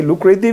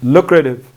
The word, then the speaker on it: lucrative: lucrative so again this we have t between two vowels so we don't say lucrative most of the time it's better to pronounce this word lucrative lucrative means I'll watch